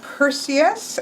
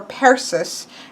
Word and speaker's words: Perseus: Here we have Perseus, or Perseus is how he pronounced it, Perseus.